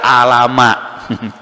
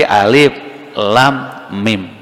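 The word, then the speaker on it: الم: Maka di antara mujizat itu adalah tidak mampu akal manusia langsung mencapai memahami, seperti tidak langsung paham kenapa alif lam mim tidak dibaca alama. Dibacanya bukan alama kan, tapi alif lam mim.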